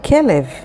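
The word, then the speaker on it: כלב: Next word, kelev. Kelev is a dog, and it's spelled with chaf, lamed, and bet, kelev.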